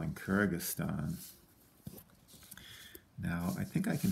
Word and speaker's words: Kyrgyzstan: a little bit challenging on the spell in kyrgyzstan now i think i can fit it right